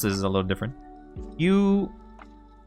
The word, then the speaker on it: Huion: Well, how do you pronounce this is a little different. Huion. Huion.